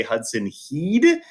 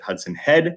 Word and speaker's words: Hudson Head: Hudson head I've heard a few people say Hudson he did which doesn't quite make sense when you look at his name when he got drafted on MLB Network they did pronounce it Hudson head so we're gonna go with Hudson head he